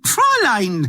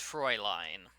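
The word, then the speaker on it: Fräulein: monster frown line and proline zzzz I'm not Doris it's pronounced Froy line nothing I need a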